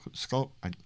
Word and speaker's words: Schuylkill: Schuylkill Haven is what I say, but it's skull.